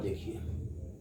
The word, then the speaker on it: the: नाउ सी, अब यहां पर देखिए द का जो प्रयोग होता है ना, यहां इसका प्रोनाउंसिएशन हम क्या करते हैं, प्रोनाउंसिएशन हम दी भी पढ़ते हैं, द भी बोलते हैं, राइट।